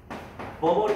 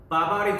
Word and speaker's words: 버버리: 버버리 코트라고 불리는. 이건 정확한 발음이고, 우리나라에서 일명 뭐라고 불리는? 바바리 코트라고 불리는.